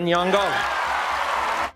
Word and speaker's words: Nyong'o: And the Oscar goes to Lupita Nyong'o. Because of that, she took to Instagram to share a quick tutorial of how to pronounce her full name. Lupita Nyong'o.